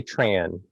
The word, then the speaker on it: Tran: Yeah, I usually say Tran, like Tran, rhymes with okay.